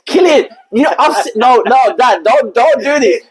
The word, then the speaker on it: Cillian: It's Killian.